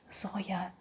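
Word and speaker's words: Зоя: number 12 is Zoya I know that uh in for in countries there is Zoe and uh with me it works like that I like Zoe I like how it sounds uh abroad in some other countries in some movies but Zoya like we say it in Russia we write it in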